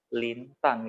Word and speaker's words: Linda: Orang Indonesia kadang-kadang bacanya Lause lihat banyak bacanya Lindan, tapi bacanya benar adalah Lintan gitu ya. D itu dibaca T. Nah, sama seperti kamu baca Linda, itu bukan Linda tapi Linta.